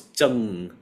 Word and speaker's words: 承: I 哦， thought it used to 咏 be Chen, right? Chen. Because I always heard 真 getting 对。 Chen. But they're like, no, it's Cheng. I was like, oh, okay, Cheng.